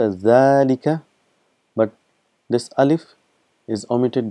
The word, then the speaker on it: ذلك: So again just uh reminding you that it is pronounced as zika but this alif is omitted because of constant